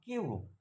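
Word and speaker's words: cube: পরে যদি ইউ থাকে ই তাহলে ইউ এর উচ্চারণ ইউ এর মত হয় এক্সাম্পল যেমন কিউব এখানে কিউব সি ইউ বি ইউ এর পরে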